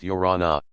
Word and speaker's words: Iorana: In 2s and 3s and groups they strayed along, shaking hands and uttering the Tahitian word of greeting Iorana, pronounced Yorana.